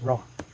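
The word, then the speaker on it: ρ: s or that we letter p or pronounced as raw spearman rank order correlation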